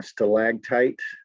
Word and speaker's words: stalactite: Line 44, stalactite. You can pronounce it almost like there's a G there instead of a C.